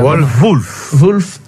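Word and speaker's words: Wolff: WOL2F. Ça prononce comme ça. Wolf.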